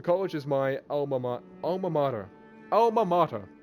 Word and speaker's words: alma mater: Alma mater. Yeah, that's how you say it. And I know that because I've heard that before, and I poured my heart and soul in it.